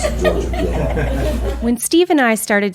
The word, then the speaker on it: Piedmont: That's how I pronounce Piedmont. That's how we pronounce it in Georgia, Piedmont.